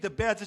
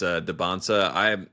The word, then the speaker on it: Dybantsa: They're focused on the T, but that's not really the issue. I don't know if it's like they just kind of gave up on the fighting back against the pronunciation and they just accepted that it's Dybantsa. I've been saying Dybantsa just because I got it from their mouth to my ears that's what it was.